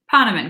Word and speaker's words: Ponaman: potterman we were just going over that pronunciation potterman correct potterman yes so is a